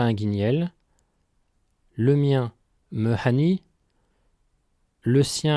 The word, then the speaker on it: hani: Remarque importante, en Ventais, il ne faut pas confondre le pronom ani que nous venons de voir, prononcé avec un a bref non nasal, et hani avec un an nasal long, qui veut dire aucun ou personne.